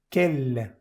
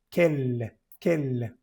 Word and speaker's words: quel: Quel, aquí se pronuncia bien la L. Quel. Vas a ver que hay algunas consonantes que se pronuncian al final y esta consonante hace que la E, que está justito antes, se pronuncie bien. Vamos a poner aquí también, en este caso se dice el.